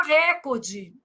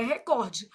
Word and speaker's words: recorde: Ô Flávio, mas por que que todo mundo fala recorde? Não sei. Mentira. Sei. Influência do inglês, né, gente? Mas o certo é recorde.